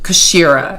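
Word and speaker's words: kshiira: the second deity or the second liquid is kashira it's spelled k-s-h-i-i-r-a and this is um this is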